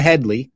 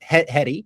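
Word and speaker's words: Headey: Directed by Ben Wheatley and starring Bob Odenkirk, Henry Winkler, the FS Hey, and Lena Hedley or Hedi. I think it's just heady.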